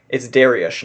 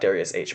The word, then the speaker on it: Dariush: Oh, it's Dariush, not DariusOne.